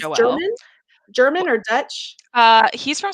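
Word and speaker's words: Joël: Joelle Dicker, is how they pronounce it. Okay. It's Joelle.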